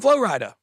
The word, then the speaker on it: Flo Rida: see that that's from Flo Rida which is just Florida if you didn't know yeah yeah Flo Rida just is Florida mispronounced which I love mispronouncing